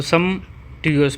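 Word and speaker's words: sumptuous: भी बोल सकते हो सम ट्यूस पी साइलेंट होगा ना यहां पे पी साइलेंट होगा वैसे सम ट्यूएस बोलते हैं इसको सम टूस तो सम ट्यूस का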